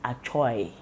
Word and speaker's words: Achoi: Actually, we may pronounce it Achoi, but we call it Achoi.